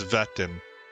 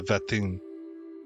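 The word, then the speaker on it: Wettin: I think you pronounce this Vetin. The W's become V's of the Vetin family.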